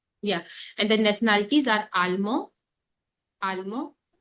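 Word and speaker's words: allemand: In case of like masculine, we never pronounce D.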